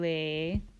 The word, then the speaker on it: Le: ends with an E the new solfege syllables end with the letter e which makes the sound a so T became teh LA became lait soul became say me became May and Ray which is